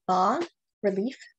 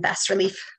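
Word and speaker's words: bas-relief: They're called, again, the bas relief mittens, and bas is a French word. It's spelled B-A-S. So I do sometimes hear people calling them bas relief, because that's how you might read it if you don't know the term.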